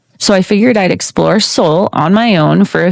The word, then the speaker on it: Seoul: Seoul pronunciation. I know I'm saying it wrong. It's Seoul.